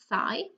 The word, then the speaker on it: thigh: So here you have the sound th and the sound I. That's it, thigh.